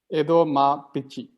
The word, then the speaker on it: Edamapichi: Edo ma pichi. Edamapichi. Yeah. Yeah. Like a motherfucker. All right. It's actually 3 words, Edo, Ma, and Pichi.